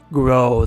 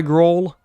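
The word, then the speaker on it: Groal: I love how the lore drop about soul being used by Gro. I just realized his name rhymes with soul.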